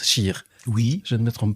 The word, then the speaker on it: cheikh: cheikh bentounès scheer c'est les français ont sont habitués aux mots chèque mais en fait on prononce scheer oui je ne me